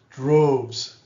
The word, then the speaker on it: droves: Droves, droves. Make sure you pronounce the V. Droves, droves. I want to hear that Z sound at the end.